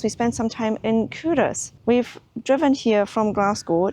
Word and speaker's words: Culross: same as me, but I was going to pronounce it Culross until you spoke to your aunt. Who is from Fife, and she said, no, it's Culross.